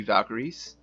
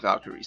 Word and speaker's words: Valkyrie: a book report about Valkyrie now Valkyries are the pronunciation like the modern day pronunciation of the word word valkyria valkyria is actually the old North pronunciation I know Comas really